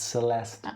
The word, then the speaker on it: Celeste: to call me celeste the e is silent at the end it's celeste celeste who's the one saying